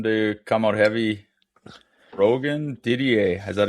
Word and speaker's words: Didier: I think, properly it's Didier, but I know I've been called Didier my whole life, so it's Didier. Didier. At the shows and all that stuff, it's Didier. You get throw a little French accent on the end of that, right?